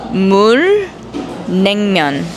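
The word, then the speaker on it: 물냉면: 물 냉면.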